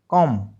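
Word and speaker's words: comb: सी ओ एम बी कॉम एल ए एम B lump. ठीक है? और डी यू एम बी डम। इन सभी में बी साइलेंट है।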